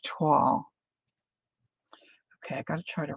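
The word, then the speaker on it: toile: this isn't waxed either yup it's t-o-i-l-e thank you Angela but pronounced tall okay I gotta try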